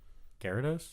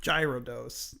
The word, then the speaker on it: Gyarados: How do you pronounce the evolved form of Magikarp? Gyarados, Thank you. Good. Gyarados. Well, when I was really little, I thought it was gyrodos, but then people corrected me.